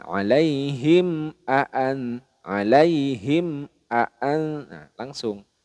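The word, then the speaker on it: عليهم: dalam kategori izhar syafawi jadi mim sukunnya dibaca jelas tidak boleh di dengungkan alaihim Aan alaihim Aan Nah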